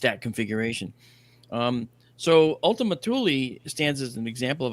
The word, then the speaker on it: Thule: Uh t h u l e is pronounced Thule.